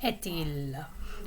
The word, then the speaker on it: est-il: Notice that the T at the end of the verb est is pronounced because it's connected to il, which begins with a vowel right after it. Quelle heure est-il?